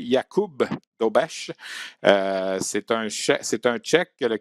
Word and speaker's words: Dobeš: En fait, il faut prononcer Jakub Dobeš.